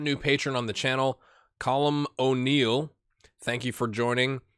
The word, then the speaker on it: Colm: patron on the channel, Colm O'Neill. Thank you for joining. He gave me pronunciation help, so he said it was like Gollum, but with a C, so we're going to go with Colm.